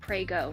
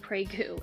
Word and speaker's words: Prego: so i'm starting with prego not pregu and gemmalini pasta i